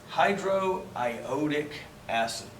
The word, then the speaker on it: hydroiodic acid: becomes Florrick next one this is a tough one just because of the way that's pronounced but the rule is still the same since it's hydrogen and only iodine this is gonna be called hydro I owe dick that tough one acid